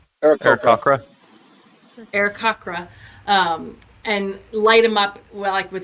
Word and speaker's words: Aarakocra: Arakoke? Aarakocra? Aarakocra, and light him up with this fairy fire, and then gasp out, "It's a sign from Nang Nang!